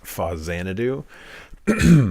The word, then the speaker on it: Faxanadu: a game called faxanadu now I'm sure that the correct pronunciation is fuzzanadu however excuse me um I always called it fact sanity as a kid so that's what I will continue to call it forever that was a wonderful